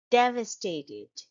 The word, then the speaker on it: devastated: four syllable word and the stress is on the first syllable shown by the arrow here devastated and the second syllable